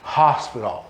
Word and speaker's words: hospital: Reparem, em português o H é mudo. Esse H nessa palavra é um H aspirado, hospital. E esse T tem um som meio D, meio T, né?